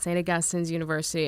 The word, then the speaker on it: St. Augustine's University: a lot over the years including how to pronounce it. St. Augustine's University is what I've been told by all of the very dedicated alum that I've talked to over the years. Well, St. Augustine's University, let me get that right as well.